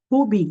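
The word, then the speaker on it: Huobi: ok l'ancien nom c'était Hubi je n'ai pas dit ou bien j'ai dit H h prononciation h pas le WBI que vous connaissez là ok donc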